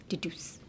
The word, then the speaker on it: deduce: Deduce.